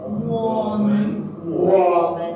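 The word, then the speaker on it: 我们: 我们 This one, if you don't learn the pronunciation, you will read as a woman.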